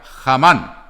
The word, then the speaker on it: Hamán: Tengan en cuenta que esta palabra en el hebreo se escribe con H. Sería, como en inglés se leería Hamán.